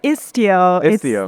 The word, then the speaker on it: Istio: specifically isio ambient M remember pronouncing that right yeah ISO the Greek words are for sailing okay cool cool cool